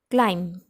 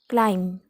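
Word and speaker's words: climb: क्लाइम, क्लाइम, क्लाइम, म पे रुक जाना है हमको, क्लाइम. जैसे बी का हमको प्रोनाउंस करना ही नहीं है, बी लेटर को उसका प्रोनाउंसिएशन सुनाई नहीं देना चाहिए. ब साउंड नहीं आना चाहिए, ब का साउंड, क्योंकि ब साइलेंट है.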